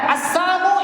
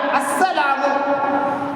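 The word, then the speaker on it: السلام: நாம சலாம் சொல்றோம் இல்லையா அஸ்ஸலாமு அஸ்ஸலாம் என்றால் அல்லாஹ்வுடைய சாந்தின்னு அர்த்தம் அப்ப சாந்திக்கும் சாபத்துக்கும் இடைப்பட்ட ஒரு சின்ன வித்தியாசம் லாம் என்கிற வார்த்தையை உச்சரித்ததிலும் உச்சரிக்காமல் இருப்பதிலும் அர்த்தமே மாறிப்போய்விடுகிறது அஸ்ஸலாம் என்றால் சாந்தி அஸ்ஸாமு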